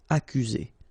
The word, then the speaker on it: accuser: Accuser. You don't need to pronounce double C here, because normally we only pronounce this K. Accuser.